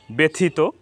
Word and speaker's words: ব্যথিত: আমাদেরকে মনে রাখতে হবে একটা হলো জ ফলা সংযুক্তর পরে যদি রস ইকার থাকে বা দীর্ঘ ইকার থাকে তাহলে সেক্ষেত্রে এককারের মত উচ্চারণ হবে ব্যথিত আর যদি রস ইকার এবং দীর্ঘ ইকার না থাকে সেক্ষেত্রে এ এর মত উচ্চারণ হবে যেমন ব্যা বস্থা ব্যা এখানে এ এর মত উচ্চারণ হয়েছে তো ভিউয়ার্স আজ এ পর্যন্ত